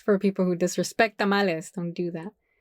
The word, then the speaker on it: tamales: And then plural tamales. Okay, that's it. Tamalei don't make no sense. Can I get tamali?